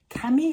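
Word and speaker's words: Kemi: your 11 year old Cami I think is how you say it k-e-m-i um you're like watching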